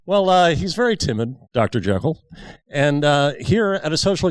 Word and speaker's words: Jekyll: You know, it's actually pronounced Jekyll.